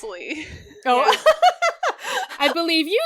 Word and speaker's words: Lea: It would be Leah if there was an H, obviously.